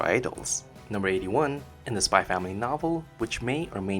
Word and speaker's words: Spy x Family: anduin Lin decided on spy family and then added the letter X in between the words like Hunter Hunter's logo and no you're not supposed to pronounce the X number 86 out of